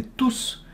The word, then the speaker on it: tous: substantif enfants donc donc il s'agit d'un pronom et vous devait prononcer le s ils étaient tous très contents ok et voilà et